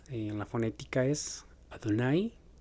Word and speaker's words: Adonai: La palabra es Adonai, como aparece en la lectura, se pronuncia en la fonética es Adonai. Adonai.